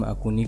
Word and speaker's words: Axone: अब इसका प्रोनाउंस हम अकूनी करेंगे।